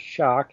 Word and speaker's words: Schoch: And so, people know, my name is Shock, and the last name is spelled S C H O C.